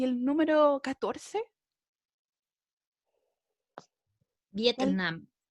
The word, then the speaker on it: Vietnam: Vietnam. Yes, it's the same. Súper bien, ¿cierto? Ahí cargamos la voz en la última sílaba.